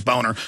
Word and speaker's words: Boehner: How do you spell Boehner? Let me give it to you right here. John Boehner scam, but he pronounces it Boehner, which I've talked to Germans and looked it up.